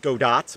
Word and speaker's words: Godot: godot game engine that's godot i believe is the proper way of pronouncing it um there's a fly flying around um it's spelt go dot but i guess the t is silent so godot game engine